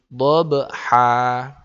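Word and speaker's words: ضبحا: Karena di sini ada fathatain kemudian diikuti alif, maka cara membacanya kalau kita membacanya berhenti, maka kita baca panjang. Jadinya wal 'adiyati dhabha. Nah, gitu ya. Tidak boleh wal 'adiyati dhabhan, enggak boleh.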